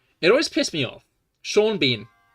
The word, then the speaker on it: Sean Bean: Sean Bean. His name is spelled Ceanbean. Right? But they're both different pronunciations of EAN.